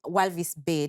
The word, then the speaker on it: Walvis Bay: so you're you're saying that growing up in walvis bay did you pronounce that correctly yes um inspired you to